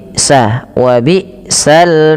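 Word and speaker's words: وبئس: Hamzah dimatikan tidak boleh nyeret. Wabisal masir.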